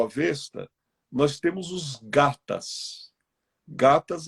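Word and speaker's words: gathas: Gatas a gente escreve como se fosse escrever gata, só que o final é T-H-A-S, gatas.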